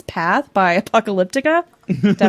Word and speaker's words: Apocalyptica: It's Path by Apocalyptica. Did I pronounce that right?